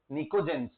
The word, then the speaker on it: pnictogens: वो यहां से था, निकोजेंस। पी साइलेंट है बेटा, English is a funny language right. Unnecessary P क्यों लगाना है, जब साइलेंट भी क्या कर सकते हो, कुछ नहीं कर सकते। ये निकोजेंस है।